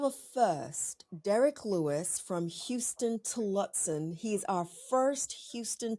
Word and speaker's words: Huston: one of those few humans who used to pronounce it as Hoston Tillotson instead of Houston Tillotson.